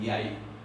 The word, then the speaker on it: jeg: Pero los noruegos no pronuncian esto yeg, dicen yai, por influencia del inglés.